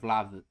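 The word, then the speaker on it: Vlahović: I got told I don't pronounce the H in it. Vlahovic. Vlahovic?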